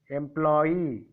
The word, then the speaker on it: employee: EE before there is one more word, Y, employee. So on the last syllable I put the stress mark.